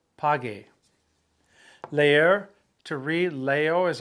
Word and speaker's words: pague: You go pago, P-A-G-O, but when you change that O to an E, you need to insert the U between the G and the E, so it maintains that hard G sound. Pague.